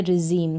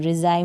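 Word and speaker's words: regime: सबमरीन है, इसको सबमराइन नहीं बोलेंगे, ये है रिजीम। क्या है? रिजीम, रिजाइम नहीं बोलेंगे।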